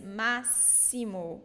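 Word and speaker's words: máximo: that it's hard like here is not maximal like in English it is maximum but it's mass Simo we pronounce it like s and why is that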